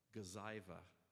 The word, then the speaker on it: Gazyva: So the one at the bottom on the right-hand side, Gazyva. Now you'll know how to pronounce it.